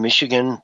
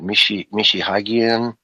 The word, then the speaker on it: Michigan: And man, you watch Europeans, I've seen Michigan get pronounced, so many horrible ways, stepped on left and right. Michihagian, all kinds of different.